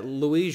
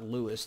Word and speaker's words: Luis: big louis sandy uh luis joshua sandini let me spell him right quick right quick for your notes l-u-i-s it's not lewis like the the king louis sandini is going to